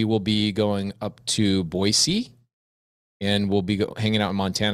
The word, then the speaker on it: Boise: Well, actually, no, she says Boise because she knows that Boise is the right way to say it. I'm from Idaho. Boise, not Boise. No Z.